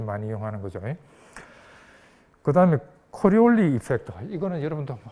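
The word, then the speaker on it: Coriolis: 들어봤어요 코리 코리리 이펙트 코리올리 어느 나라 사람 같아 이태리 사람이 이태리 사람 이태리 사람이 코리올리 그래서 그 프로도 그렇고 이태리어이 뒤에 그 마지막 자은 잘 발음 안 해 그죠 코리올리 이펙트 자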